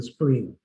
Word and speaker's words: spleen: Porque en inglés el vaso se pronuncia así, spleen, ¿ya?